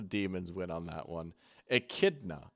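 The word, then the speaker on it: echidna: Akidna. Okay, that makes more sense. Knuckles the Akidna. I really said Achidna.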